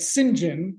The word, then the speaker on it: St John: full name singen because St John the British pronounce that singen because I had no